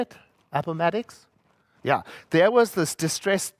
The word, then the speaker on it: Appomattox: Appomattox?